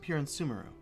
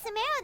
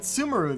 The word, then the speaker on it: Sumeru: I've been calling it Sumeru this entire time, but I guess the emphasis is on the E.